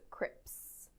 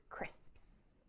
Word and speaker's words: crisps: you that one uh crisps is a notoriously difficult word for learners of english it's the s sound at the end chris you'll find a lot of people mispronouncing them as crips crips when they should